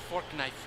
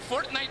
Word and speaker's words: Fortnite: That's a fork knife reference. A fork knife reference? Oh. It's actually pronounced Fortnite.